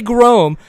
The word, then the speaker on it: Groemm: to say Gro and I'm going to be corrected very shortly I'm sure um on how we actually pronounce his last name but Mr uh Jesse Gro how is your evening going kind sir it's it's going good um happy to be on the show and uh you pronounced my last name right spot on Boom see we we